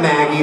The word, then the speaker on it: Maggi: ever it's simple like i get maggie that's okay what pisses me off